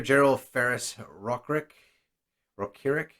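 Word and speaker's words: General Ferrous Rokiric: So, before we finish up here, General Ferris Rokirik, that's how it's pronounced, is one of the last rares we've got.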